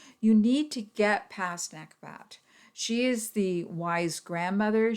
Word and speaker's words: Nekhbet: associated with the sign virgo her name is nekobat and that is spelled n-e-k-h-b-e-t she is the vulture goddess of